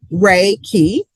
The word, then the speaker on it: Reiki: in Japan um and it comes from two Japanese words ray meaning universal and then ki meaning life energy.